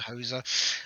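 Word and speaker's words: Houser: And the lead team was, I think it was Dan Hauser, or is that how you pronounce his surname? Yeah. Hauser.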